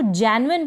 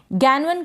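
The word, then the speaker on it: genuine: जेन्युइन का मतलब है वास्तविक और यहां पर जी के बाद इ आया है। इसलिए हमने इसको जेन्युइन पढ़ा है। गैनुइन करके आप इसको प्रोनाउंस नहीं करेंगे।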